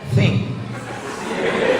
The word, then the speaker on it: think: Think, T sama H itu bacanya think.